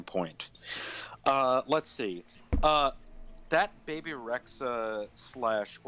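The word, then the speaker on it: Rexha: That Baby Rexa / or Reja is actually how you pronounce it in Albanian, but fuck, whatever.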